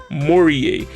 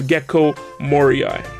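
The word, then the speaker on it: Gecko Moria: list we have gekko mourier instead of gekko moriai this one i clearly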